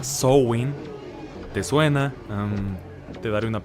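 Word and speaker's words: Samhain: cosa era esa festividad escritas am h i'm samaín pronunciada show in te suena te daré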